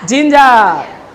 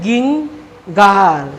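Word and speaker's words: ginger: জি আই এন জি ই আর কি লিখলাম জিঞ্জার জিঞ্জার মানে কি আদা আমরা জানি দেখো এখানে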